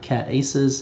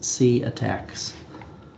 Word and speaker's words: CATACS: Uh, I there was someone that asked yesterday, how do you pronounce it? Again, it's not CAT aces, it's C attacks.